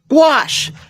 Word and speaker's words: gouache: Gouache.